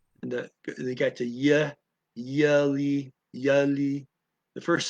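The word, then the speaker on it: jullie: I mean, the yeah, and they got the yeah, yelly, yelly. The first syllable, yeah, you, yelly, yelly.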